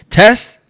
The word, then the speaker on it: Tes: Now, her name rhymes with best. Tess is the best.